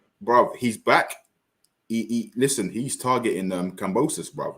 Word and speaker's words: Kambosos: Combasis. The current. You mean Kambosos? Kambosos, that's it.